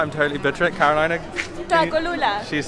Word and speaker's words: Tlacolula: Tlacolula. She's saying it right. I'm not good at pronouncing things.